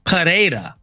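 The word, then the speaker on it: Pereira: name like uh Alex perea right uh you notice that we pronounced the RS with a rolling r or even just an R sound how however when it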